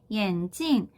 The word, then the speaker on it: 眼睛: 뒤에 사성으로 찡으로 발음되는 거에 좀 주의를 해주셔야 돼요. 왜 그러냐면 眼睛이라고 하는 뒤에 경성으로 발음이 되는 단어가 있어요.